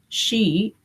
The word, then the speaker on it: Shi: And it in Tibetan, Y en tibetano, it is called Shi, S-H-I.